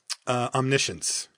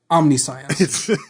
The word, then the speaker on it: Omniscience: Omniscience. No, it's omniscience. That's just science. Everyone knows that. I've said the card hundreds of times. Of course it's omniscience.